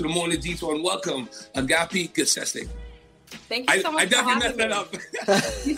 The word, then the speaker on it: Agapi Gessesse: to introduce to the morning detail and welcome agape good session thank you you said it right you know